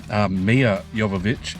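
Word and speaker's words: Milla Jovovich: 45 with Mila Jovovich. Mia Jovovich is how you say her name actually.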